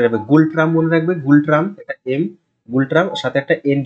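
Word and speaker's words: Ngultrum: গুল ট্রাম মনে রাখবে গুল ট্রাম্প একটা এম গুলট্রাম একটা এন যুক্ত করে দেবে তো গুলট্রাম হচ্ছে উচ্চারণ ঠিক আছে এন এর উচ্চারণ হয় না তো এইটা হচ্ছে ওদের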